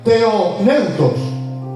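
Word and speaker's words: θεόπνευστος: hermanos proviene de la palabra griega que se pronuncia teone neutros que literalmente significa Dios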